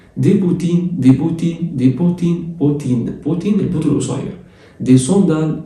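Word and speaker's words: sandales: دي صندال الا ان بتتنطق اون، صندال والاو اس في الاخر ما بتتنطقش.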